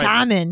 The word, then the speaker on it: Charmin: Charmin.